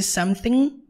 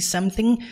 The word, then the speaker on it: something: something can I say something can I say something e outra coisa importante para ressaltar é que toda e qualquer palavra no inglês que termina como ing você nunca pronuncia a letra g então você não fala